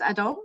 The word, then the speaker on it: Adom: And from Nova Scotia, we have Joyce Adom. Did I pronounce that correctly, Joyce?